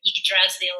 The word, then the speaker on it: Yggdrasil: I'm going to pronounce this incorrectly, but Yggdrasil.